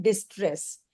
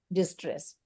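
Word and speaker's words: distress: ऑस्ट्रेस and negative स्ट्रेस को हम बोलते हैं डिस्ट्रेस डी आई एस टी आर E double S डिस्ट्रेस ऑस्ट्रेस डिस्ट्रेस ठीक है तो अगर आपको कभी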